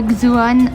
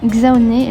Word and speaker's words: Xao: Pour ceux qui se demandent, on ne dit pas Xoan, on dit bien Xaoné. L'accent sur le dernier E n'est pas écrit, mais on le prononce quand même.